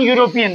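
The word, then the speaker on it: European: अब इसका उच्चारण देखो, ये है तो स्वर वोवेल है, लेकिन इसमें एन नहीं लगेगा क्योंकि इसका उच्चारण यू से हो रहा है, और यू शब्द हिंदी का व्यंजन है।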